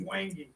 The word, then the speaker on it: wenge: Somebody said I was mispronouncing that. I don't care. Wenge. I looked it up. It's Wangy.